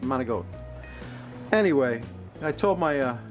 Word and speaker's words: manicotti: goat with now uh you might call this manicotti if you're a gringo and you don't know any italian but it's called mona goat it's pronounced mona goat anyway i told my uh grandson that he